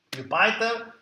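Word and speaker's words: Jupyter: Jupiter è un progetto molto grande, lo pronuncio come probabilmente la maggior parte degli americani lo pronuncia, se lo pronunciassimo in latino sarebbe una parola che non esiste, ma avesse la I invece della Y, sarebbe Giove, Jupiter.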